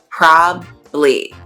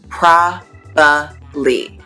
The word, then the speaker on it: probably: but i do so one way is probably probably probably the other one is probably probably so you can say it with two syllables or three syllables and a lot of